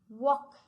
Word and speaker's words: walk: Now next. Walk. So which letter we have not pronounced? Walk. L. Correct children.